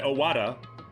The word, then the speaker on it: Owada: Oh no, they've said Owada. That's how they've pronounced it, so I was just following their pronunciation.